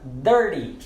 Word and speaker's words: dirty: Você vai pronunciar a letra D no lugar de T.